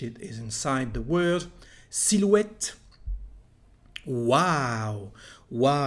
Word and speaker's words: silhouette: Silhouette.